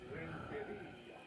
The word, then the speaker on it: Renteria: You got to roll your R's. Renteria.